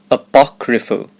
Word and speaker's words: apocryphal: as you can see there are four syllables ah then Bach then re and lastly fell apocryphal the stress is on the second syllable apocryphal it refers to a